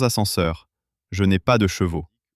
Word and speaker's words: chevaux: Je n'ai pas de chevaux." C'est une toute petite différence de prononciation entre cheveux et chevaux, mais le résultat est surréaliste.